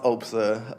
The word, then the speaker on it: OPSA: So Opsa a lot of people call Opsa, you know, we don't correct people, but it's usually pronounced Opsa Office of Public Safety